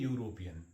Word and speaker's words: European: use it as a European why because European word has a pronunciation of the euro / kadhai deleting what